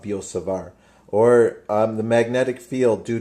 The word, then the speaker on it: Biot-Savart: the law of biot-savart I don't think you pronounce the T actually it's the law of biot-savart or the magnetic field